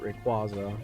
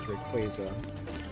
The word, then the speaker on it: Rayquaza: I I always called it Rayquaza, but apparently the correct pronunciation is Rayquaza.